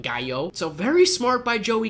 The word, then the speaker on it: gallo: there and of course it spelled like gallo cuz in Spanish you'd do the double Ellis's like guy oh so very smart by